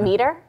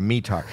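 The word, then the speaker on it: METAR: visibility a mear yeah are you pronouncing that wrong is it not meter no it's mear it's called AAR it's an an acronym meteor meteorological blah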